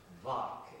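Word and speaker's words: vāc: It's called the VO and it's spelled differently. V A C H V A C and V A K.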